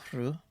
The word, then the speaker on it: Rhiw: But regardless of that, it is in a place called Rhu, which is spelled Rhiw. If you look on Old English maps, they spell it Rue, which makes sense if you're thinking about it from a pronunciation standpoint. But from Welsh spelling standpoint, obviously makes no sense.